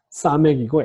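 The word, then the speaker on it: סמך: 싸맥이고 S 발음으로 음역하시면 되겠습니다.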